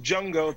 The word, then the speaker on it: Jungo: Yes, it's actually pronounced Jungo, just like welcome to the Jungo.